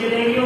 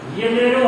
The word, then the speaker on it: Janeiro: हम लोग इसे जनेरियो पढ़ेंगे, बट इसका एक्चुअल प्रोनाउंसिएशन येनेरो है।